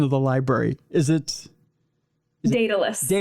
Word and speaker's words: Daedalus: they're about to Now, correct me on the pronunciation of the library. Is it Daedalus. Daedalus, yes.